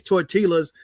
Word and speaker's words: tortillas: when he get his tortillas or tacos tortilla tortilla tortilla So, not tort the L, the double L is pronounced Y.